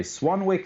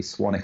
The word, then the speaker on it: Swanwick: Swan if the stock the second W is silent in America in particular Tyson where